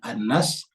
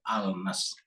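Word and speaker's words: النَّاس: Jadi kalau tulisannya Al-Nas, tapi dibacanya An-Nas, karena ini adalah huruf syamsiah. Kalau huruf syamsiah, huruf nun itu syamsiah, maka lamnya berubah menjadi lebur ke dalam huruf pertama daripada kata tersebut. Jadi An-Nas, bukan Al-Nas.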